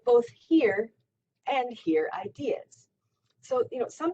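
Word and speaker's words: hir: So, for example, some people want to refer to themselves as Z, that's spelled Z-E, or here, pronounced spelled H-I-R.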